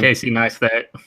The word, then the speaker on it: Casey Neistat: Casey Neistat.